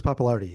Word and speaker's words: Pappalardi: Felix Pappalardi, yeah.